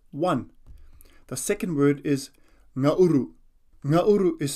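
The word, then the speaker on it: ngauru: is which means one the second word isuru Nuru is spelled n g a u r u repeat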